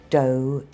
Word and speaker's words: dough: That's how we usually spell it in American English. So there's although, though, dough, donut.